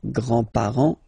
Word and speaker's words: grand: with the the grandparents remember you don't pronounce this final s here grandar okay so grand grandfather